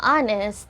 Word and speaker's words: honest: Dahil sa word na honest, ay hindi binibigkas yung letter H. So, ang unang sound nito ay O.